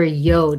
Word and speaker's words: yod: And the double yod key, the yod or a yod, it's called, you could pronounce it either way.